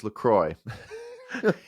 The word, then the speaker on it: Lecrae: I mispronounced it. It's Lecrae.